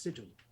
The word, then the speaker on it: Sigil: There's a lot of stories about Sigil, which is what I'm going to call it, even though it could also be pronounced Sigil.